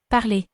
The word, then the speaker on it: parler: So we are looking at the verb to speak, which in French is parler. Note that in French, ER is pronounced A, so it sounds like this. Parler.